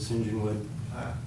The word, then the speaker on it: St John's Wood: there the Rolling Stones record where MC Jagger pronounces it singen wood so we called it we called band singen wood and uh Gordon came over and and interviewed